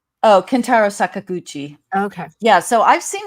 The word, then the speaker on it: Kentaro Sakaguchi: Oh, Kentaro Sakaguchi.